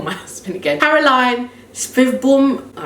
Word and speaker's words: Caroline Svedbom: Carolina Svedbom. Svedbom. Listen, this is Swedish, but I don't. Don't you guys are neighbors? Yeah, but they have a different, like, they say it in a different Okay,